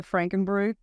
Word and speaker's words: Frankenbrew: I guess if anybody wants the tour and explain and see the Frankenbrewer, is that how you say it, the Frankenbrew? Yeah, it's like Frankenstein. Yeah, it's Frankenbrew.